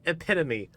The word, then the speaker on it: epitome: that we can do this I know it's pronounced epitome I up okay I'm not